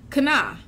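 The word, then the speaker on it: קנא: See, envious is a word called kana.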